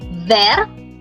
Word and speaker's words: vert: The masculine part is called vert. Last letter is silent.